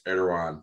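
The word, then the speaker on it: Erdoğan: But what Turkey has done, the president, I think it's Erdogan, is how you say it, he's proposing a new adoption of crypto that make it legal.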